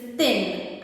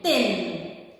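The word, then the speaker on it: ਤਿੰਨ: The number 3 is thin as in in. I-N-N. Add a T to in. Tin.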